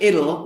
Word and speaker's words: idle: So the sound of these two is surprisingly similar. Italy and idle.